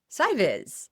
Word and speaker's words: SCIVIS: Joining us this time, Dan Oates, coordinator of Space Camp for Interested Visually Impaired Students, or known as SCIVIS. Is that right, Dan? That is correct, Susan. Good pronunciation.